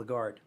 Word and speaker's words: blackguard: LHC catch you a or D but it's pronounceable a guard its origin the word is made up of